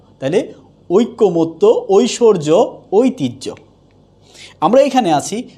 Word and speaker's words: ঐকমত্য: তাহলে হচ্ছে যে ঐকমত্য হবে ওই কো মত্ত। তাহলে উচ্চারণটা হচ্ছে ঐকমত্য।